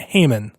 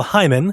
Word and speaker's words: Hyman: cinema apparently for years everybody has been saying kyle's last name wrong what whoa kyle hyman not haman so kyle hyman i don't know if